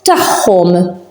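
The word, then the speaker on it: tagħhom: So when these are near each other, they pronounce as h. So tahom.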